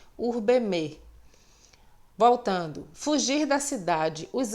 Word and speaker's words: urbem: Observem que eu pronunciei o fonema M, final. Em latim, toda palavra terminada em M tem o seu fonema intensificado. Portanto, ao invés de urbem, urbeme.